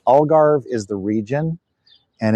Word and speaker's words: Algarve: I've heard it pronounced a couple of different ways. Okay, so the region is called the Algarve.